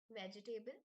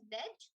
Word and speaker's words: vegetable: A lot of people pronounce it as vegetable, but the correct pronunciation of this word is veg. So the E is silent after G, veg, and then the second is tibble.